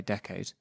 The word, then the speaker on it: decade: being clever hopes now in order to get the word decade which I would usually say decades to rhyme with afraid you do need to put the emphasis on the second syllable decade which I have seen